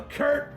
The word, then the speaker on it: Kurt: Well, Kurt rhymes with dirt.